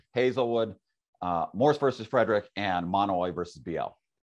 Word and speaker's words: Mahanoy: And then just from the Supreme Court's last term, there's Monoy versus BL. Looks like it's pronounced Mahanoy, but it's actually Monoy.